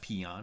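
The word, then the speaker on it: paean: a e a n I think that's pronounced peon right uh so like a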